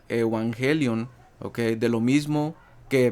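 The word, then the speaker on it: εὐαγγέλιον: evangelio viene del strong griego 2098 Okay que se pronuncia evangelion Okay de lo mismo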